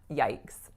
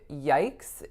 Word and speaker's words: yikes: So this word, again, the real trick of yikes is how it's pronounced based on how it's written. It's not necessarily very obvious, but the vowel is I. I. So yikes.